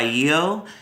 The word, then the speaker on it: Yeo: Number four is Restless by I.O.U, which is spelled Y-E-O.